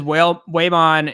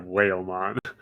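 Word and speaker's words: Whamon: I've always said it Waymon, and I'm pretty sure Tentomon says Waymon. There's no L. It's whale. And not whale, like way, like W-A-Y, like pronouncing it that way. Yeah, I'm adding the L in the end, but I totally just mispronounce everything. So Yeah, he's Whalemon.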